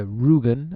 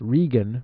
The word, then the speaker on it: Rügen: So one of them, I believe, is a region in eastern Germany, the Rügen, I think that's actually pronounced Regen region, and also the country of Italy now has its own map with 3 different versions.